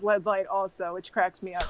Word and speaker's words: LEDLite: led light hello hello thank you for saying that correctly i've like reconciled with it being led light as it also rhymes with headlight which is that works too that's also a bunch